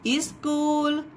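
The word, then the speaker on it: school: है हमारा साइलेंट है, यहाँ पर C को हम का साउंड देंगे, इसके लिए हमने यहाँ पर का लिखा, और यहाँ पर H साइलेंट है इसलिए H का यहाँ पर हा नहीं लिखा जाएगा।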